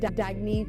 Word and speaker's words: Dagne: live life intentionally oh it's pronounced dagne do dagy means New Dawn a new dawn for